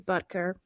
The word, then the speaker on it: Butker: about was the Kansas City Chief's kicker Harrison buer and I believe that's how you pronounce his name I looked it up it is buter that's not me making jokes uh he gave